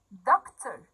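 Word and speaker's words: doctor: دكتور، السي بنطقها بصوت حرف الكي، دكتور. طيب رجل الإطفاء، الإنسان اللي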